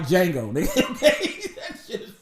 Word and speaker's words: Django: That nigga beard look like Django. Nigga. Okay? That shit is fucked up. And the D is silent.